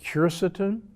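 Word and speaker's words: quercetin: of my favorite supplements is curceton sometimes pronounced curceton it's a substance that's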